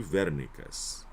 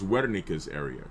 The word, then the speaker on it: Wernicke: We're going to train Broca's to Wernicke's. Okay? All right. Now, right here, posterior speech area is called Wernicke's area, right? Some people say Wernicke because they pronounce W as a V, but it's Wernicke's area, right?